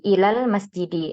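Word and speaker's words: إلى المسجد: dari menjadi Ilal masjidi Nah di sini ada Alif maka alifnya ini dihapus atau dihadf secara ee Pengucapan ya langsung masuk ke lam sukun berikutnya Ilal bukan Ilal Ilal lanya dipanjingin tapi langsung Ilal masjidi Ilal masjidi seperti itu kita lanjutkan di sini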